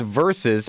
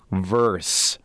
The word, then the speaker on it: versus: raise her that way the other is versus pronounced verse regards Mike I've never heard the second one I have wouldn't you be like it was Rocky vers Apollo ain't going to be